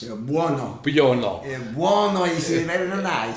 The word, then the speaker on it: Buono: But, you know, little did we realize that no one could pronounce Buono.